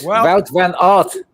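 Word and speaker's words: Wout van Aert: John, it's it's Wel von art. That's it. Wel van art.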